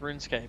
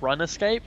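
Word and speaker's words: RuneScape: got dick right besides you're pronouncing it wrong it's everybody loves like nobody likes runes Escape but run escape it's amazing oh yes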